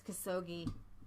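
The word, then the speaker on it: Khashoggi: moving there's this guy his name is kasogi rhymes with perogi don't Ching we never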